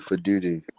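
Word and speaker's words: Faalele: I think that Daniel Fle and Andrew Vorhees are terrorists um and should not be playing anymore. You said his name wrong. It's Daniel Futi.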